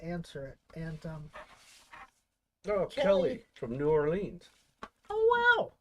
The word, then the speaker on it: New Orleans: And Kelly from New Orleans. Oh, wow. Or as they say down there, Narlands.